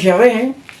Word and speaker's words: Yahvé: Entonces se fue perdiendo la pronunciación real de ese nombre. Pero lo más cercano es Yahvé.